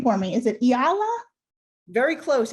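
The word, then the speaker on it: E'ala: pronounce your first name for me is it Ayala very close it's Ayala hey Allah okay I wanted to make sure that I pronounced that completely correct I don't want to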